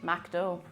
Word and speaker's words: McDo: condensed chicken units french it's mac dough pronounced macdo all right that's it